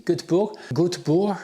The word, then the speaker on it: Göteborg: Göteborg, I think you pronounce it in Swedish, because we wanted to